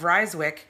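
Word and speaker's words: Rijswijck: In Holland, they use I and J to make the sound Y.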